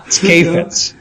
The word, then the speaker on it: Kheifets: It's Kheifets. Kheifets.